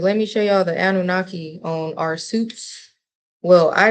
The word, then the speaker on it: Anunnaki: The Anunnaki is actually how you pronounce it.